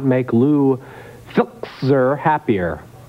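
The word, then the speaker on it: Filczer: this country, and this could not make Lou Filzer happier. How do you pronounce that?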